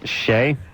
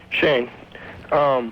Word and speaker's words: Shane: Shay? Hello? You're 19. What's up? Shane. Right, I said Shay. Yeah, I'm sorry, it's Shane.